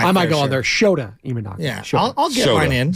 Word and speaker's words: Shota Imanaga: Well, the Japanese pitcher that you were afraid to because you don't want to be on a mispronunciation. Was it Shinto Imanaga?